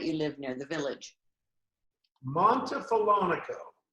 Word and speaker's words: Montefiorino: from New Orleans to now, how do you pronounce the name of the town that you live near, the village? Montefiorino. Montefiorino. Montefiorino.